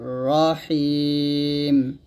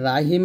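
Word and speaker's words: رحيم: হবে গুণ তাংজিলাল আজিজির রহিম এখানে রাহিম বলা যাবে না সুন্দর করে রহিম বলতে হবে রহিম একসাথে হবে তানজিলাল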